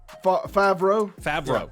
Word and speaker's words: Favreau: Favreau.